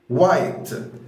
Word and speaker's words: white: لاحظ معايا ان ال W لما يجي بعدها H انا ما نطقتش ال H، فاي كلمه تلاقي فيها W بعدها H على طول مش بتنطق ال H، بتبقى silent او مش بتتنطق، فتقول white وايت وده اللون الابيض طبعا.